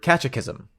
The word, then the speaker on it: catechism: I think it comes from the word catechism. Catechism. Cataclysm. Catism. Spell it.